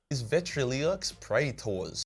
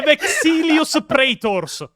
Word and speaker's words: Vexilus Praetors: This is a personal insult VETRILIAX Praetors "The next cluster of blessed boys on this list, is VETRILIAX Praetors" Pio, just to do a test, just to make people understand how stupid, this pronunciation is Hear what he says